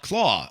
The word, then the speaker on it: Klaue: What do Killmonger and Clow? Is that how you say his name? Claw. Oh, that's right. It's Klaue. In comics, it's spelled funny but pronounced grammatically correct.